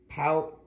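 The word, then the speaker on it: Pautrat: by the artist Laura power power at p a u t r a t I believe the t is silent but I am not 100% let's get this out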